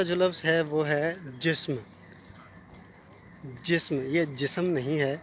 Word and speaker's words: جسم: ادا کیا جائے گا۔ اس لیے اس کو صحیح انداز میں تلفظ اس کا پیش کرنے کے لیے آپ اس کو جسم نہیں، اس کو آپ جسم بولیں گے، جسم۔ اسی کا ہم آواز لفظ ہے حسن، ٹھیک ہے؟